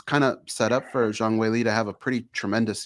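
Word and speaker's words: 张伟丽: I did say it right. It is Zhang Weili officially.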